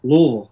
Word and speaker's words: Louisville: You're up there in Louisville, Kentucky. Did I say it right? That's right. Louisville. Louisville. You got to get a little bit of Tom Brokaw in there.